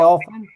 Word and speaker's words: often: And remember that this word here, often, you don't mention the T letter. Aquí la pronunciación de often omite la T.